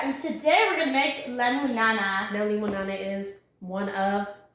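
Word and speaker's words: limonana: So, limon, I would pronounce it limo-nana, not lemon-nana.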